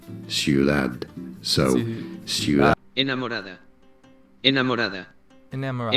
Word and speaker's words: Ciudad: How do you say city? Like an actual D. Ciudad. Ciudad.